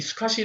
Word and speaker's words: SCSI: 보시 다시피 장치 이름 이 다르고 , IDE 외 에 도 SCSI 라는 인터페이스 가 있는데 , 한국 에서 는 이 를 흔히 " 스커지 " 라고 발음 합니다 .